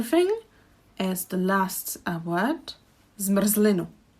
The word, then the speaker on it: zmrzlinu: If you look at the word, there are zmr, zli, nu. 3 syllables. Zmr, zli, nu. Again, the syllable should contain a vowel, but the r is kind of creating a syllable. So that's why we actually can't have these many consonants together, because without the r, we wouldn't be able to pronounce it.